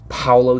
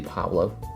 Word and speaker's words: Pablo: to see for yourself and number one is Paulo the baller I hope always pronounced his name is Pablo dibala as only today one of them the research for this video that realized there's names actually Pablo by the way this guy needs no introduction